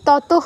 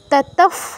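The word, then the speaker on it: ততঃ: আচ্ছা, যেটা বলছিলাম 22 নম্বর দেখুন, বিসর্গের পরে প আছে, তো বিসর্গের উচ্চারণটা নির্ভর করবে এর পরে কি আছে তার উপর। নিয়মে বলেছি প ফ থাকলে বিসর্গের পরে বিসর্গের জায়গায় ফয় হসন্ত হবে। তো এখানে কিন্তু ততহ হবে না, ততফ হবে।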